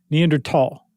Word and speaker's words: Neanderthal: No, I mean the pronunciation would still be that in modern German. Neander tall.